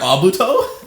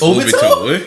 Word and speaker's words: Obito: You just call him Abuto? That's his name. It's Obito. Obito? Yeah. This nigga been saying it wrong the whole time.